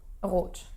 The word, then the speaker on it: rot: Rot. So, rrr. Ah. But you're exaggerating now. Yes, of course I'm exaggerating, yes. But normally you say rot. Rot. Yeah, very briefly. It's exactly like in French.